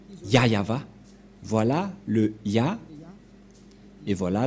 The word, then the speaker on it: Yahvah: Et donc c'est bien la vraie prononciation de son nom, Yayava. Voilà le Ya et voilà la suite après. Yayava, voilà.